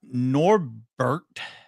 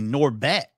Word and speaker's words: Norbeck: We are going to jump though over to Daniel Norbert. Oh, excuse me, Norbeck. I almost said his name wrong.